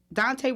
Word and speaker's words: Daunte: Daunte Wright, right? Daunte Wright.